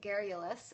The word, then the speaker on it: garrulous: Garrulous is how it's pronounced, and it means talks a lot.